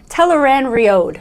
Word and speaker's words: Tel'aran'rhiod: 3, Episode 5 called Tel'aran'rhiod. Nice. Yeah? Was it? I think I want to say it's exactly as it's spelled out. Yeah, this one, finally. Right? Yeah, like phonetic.